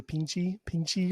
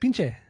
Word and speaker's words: Pinche: Say how you say it. Pinche. That's not how you used to say it. I used to say it differently, but now I know how to say it, so I don't say it the wrong way.